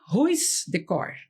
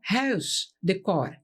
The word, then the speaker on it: Huisdecor: Então ficou ruis decor, não é assim? Isso é é mas a pronúncia certa seria house de core.